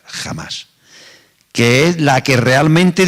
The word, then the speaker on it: Hamas: En verdad es Hamas con H, pero la H se pronuncia como una G o una J, Hamas, que es la que realmente dicen que tiene la autoridad en la franja de Gaza.